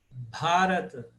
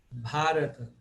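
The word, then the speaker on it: Bhārata: Bharata. Porque o A, terceiro A é longo. Bharata.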